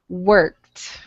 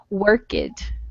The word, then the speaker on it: worked: have the correct pronunciation i think i'm still hearing work it okay but that would be worked yeah all right right